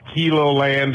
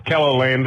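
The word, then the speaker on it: Keloland: It's not Kilo land, it's Kello land, and I know we spell it wrong, but that's the way it is.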